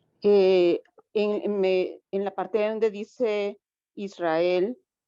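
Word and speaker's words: Israël: la parte donde dice Israel como tiene esas diéresis la e arriba verdad tiene esa diéresis por eso no se pronuncia como el diptongo exactamente Exactamente no está pegado Aquí sí Y aparte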